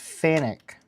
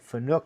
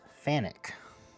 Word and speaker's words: Fanuc: They call it So it's So it's pronounced Fanuc. I always pronounced it Fanuc my whole life. And I found out recently it's Fanuc.